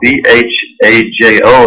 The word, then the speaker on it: Bhajo: The album is called Bhajo Ma, B-H-A-J-O. It's pronounced Bhajo in Hindi, and that means remembrance.